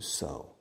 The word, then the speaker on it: sew: to sow Coser to sow the spelling is s-e-w strange but the pronunciation is so like the word so asike so I decided